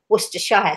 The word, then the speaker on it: Worcestershire: sauce and Worcester sauce in America they say Worcestershire sauce I think oh we certainly know how to pronounce it we say Worcester sauce and so it's I'm